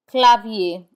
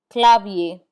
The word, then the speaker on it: clavier: We do not pronounce the r in i e r. Instead, it has the a sound. Papier. Papier, which means paper. Clavier, which means keyboard. Clavier.